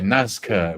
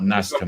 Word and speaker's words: Nazca: You have to be careful how you pronounce it. Yeah. Nazca with a zed. They're not NASCAR mummies.